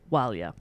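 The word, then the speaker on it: Ó Máille: maeve and owen davdara walia is their surname which is spelt o m a i double l e um that's wilya and the family was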